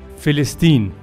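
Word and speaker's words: فلسطين: Es wird in Arabisch buchstäblich wie folgt ausgesprochen: Philistin.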